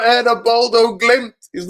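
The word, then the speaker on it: Bodø/Glimt: You say Bodo Glimt. Yeah, Bodo Glimt. That's the 100%.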